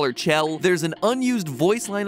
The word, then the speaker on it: Chell: role of test subject 1498 aka chell or shell i'm gonna call her chell there's an unused voice line of glados actually